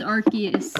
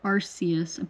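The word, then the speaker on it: Arceus: best Pokémon game Legends archus is or arus I pronounce it archus this but um this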